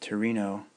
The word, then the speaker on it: Torino: was professor at the University of Turan pronounced Torino Italy until he was